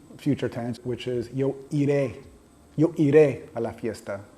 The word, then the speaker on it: iré: tense, which is yo iré. Yo iré a la fiesta. I will go to the party. So you just simply put the accent on the I at the end.